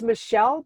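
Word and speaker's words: Maechelle: Okay, so it's Michelle, but it's spelled different.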